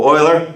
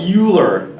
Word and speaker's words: Euler: that was typed up a while ago Oh a l'heure yeah it's not a funny name it's a the pronunciation is different from what people usually think a lot of people call it Euler I hear especially biology kids call it that